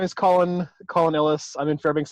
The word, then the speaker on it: Collun: column's my first name how do you say your first name one colin all right just just like just like just like hey who are you calling gotcha okay all right